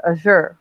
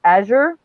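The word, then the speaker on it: Azure: a week or two her name is spelt AZ u ar e and she she pronounces it a sure like like Usher and but so many people when I worked with her McDonald's would call her a sure she's just like you'd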